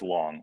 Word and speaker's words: Loong: My heritage comes from Hong Kong, and the phonetic pronunciation is Long, right? Like if you're pronouncing it in Chinese, it's closely pronounced to Long.